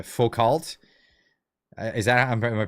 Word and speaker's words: Foucault: Foucault. Is that, am I pronouncing that correct?